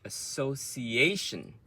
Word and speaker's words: association: Then we have association. So association. So association. So just now we say pronunciation. Ciation is one beat. Ciation. Association.